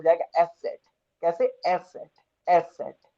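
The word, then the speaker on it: ß: और ये beta sine है, इसको कैसे रिप्रेजेंट करेंगे, कैसे प्रोनाउंस करेंगे? ये हो जाएगा एस सेट।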